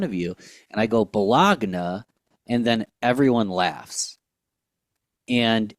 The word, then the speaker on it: Bologna: going with this, but bologna is spelled Bologna, which is Bologna. And you can fight me, we can argue. That word is not bologna, it's Bologna.